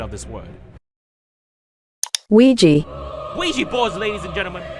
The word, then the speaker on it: Ouija: data analyst expert to give us the proper pronunciation of this word Ouija Ouija boards ladies and gentlemen these boards were